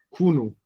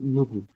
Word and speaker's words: 누구: Entonces la gente se confunde, a veces en vez de decirme Dugu, me dicen Kunu. ¿Verdad? Pero es Nugu.